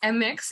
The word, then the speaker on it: Mx: is MX pronounced so it is MX it's not mix if you say mix